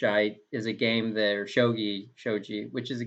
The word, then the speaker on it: shogi: i mean if it's if it's spelled like this then it's shogi because if it was if it had a j it'd be shoji in japanese but it's um i'm